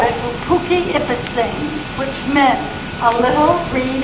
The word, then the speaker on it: Poughkeepsie: So the Dutch called it Poughkeepsie, and some of the other people shortened it by calling P-I-K-I-P-S-I, Poughkeepsie.